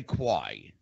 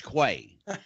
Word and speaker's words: Quay: Mike says to me, do you pronounce this Quay or Quay? I said, it's Quay, the Sage of Quay. Yeah, yeah. It was, the Sage of Quay. I want to say Quay. Well, don't. It's Quay.